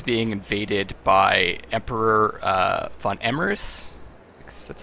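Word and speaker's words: var Emreis: the north is being invaded by Emperor uh Von emeris that's how you pronounce his name and uh he kind of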